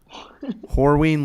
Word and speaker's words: Horween: mic the first time horween leather no i okay it's a strong first syllable there it is whatever it